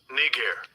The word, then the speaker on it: Niger: up here it is now I'm gonna let you hear how they pronounce it Strong's G 35 26 knee care no thank you let